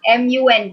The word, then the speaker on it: monk: How will you pronounce MONK? MONK. NK. NK. Yes. Monk. No, it is monk. Yeah. MUNK.